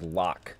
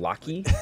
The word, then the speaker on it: Locke: in Final Fantasy VI named Locke, and I used to call him Locky. Like, Did you really? Yeah. Yeah. How do you spell it? Wow, L-O-C-K-E. Brittany sounds horrified. And I was Locky. like, that game was Final